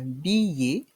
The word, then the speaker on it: billet: un billet d'avion un billet ici nous avons le son ye avec la voyelle i devant i un billet